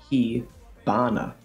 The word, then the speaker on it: 火花: They're pronounced hana bi and hi bana. In both situations, the h sound becomes a b sound.